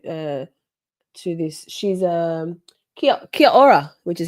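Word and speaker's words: Kia ora: She's um Kia Kiora, which is how you say hello in in New Zealand.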